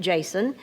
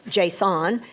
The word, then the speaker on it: JSON: And we do pronounce it JSON, not JSON, which is how I used to do it.